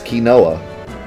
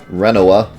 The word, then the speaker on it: Rinoa: is Kai sis hi sis yeah and that's ki Noah well I would never get my love-interest name wrong rinoa who's that oh that's my dog Angelo